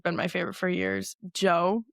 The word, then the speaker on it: Djo: Joe is his name. DJ O is how it's spelled.